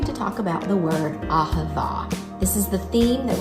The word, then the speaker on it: Ahavah: Ahavah, yes, you did.